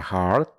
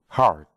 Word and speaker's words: heart: Aquí, un pequeño tip de pronunciación es que la palabra heart la pronuncias con una A en vez de una E. Heart.